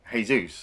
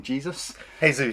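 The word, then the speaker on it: Jesús: follow frederico loopy plain hey Zeus I mean I try not to call him Jesus hey Zeus is obviously the way you pronounce it he's a pretty famous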